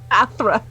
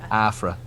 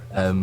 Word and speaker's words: Athra: Athra. Athra. That's why I was struggling. It's the TH sound that I can't do. Afra. Afra. Athra. With a TH, not an F.